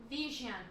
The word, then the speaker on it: vision: Vision. Vision. Vision. Two syllables again.